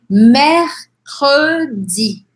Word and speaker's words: mercredi: Quero realmente que você separe o C do R até. Você vai falar assim, mer, k, k, k.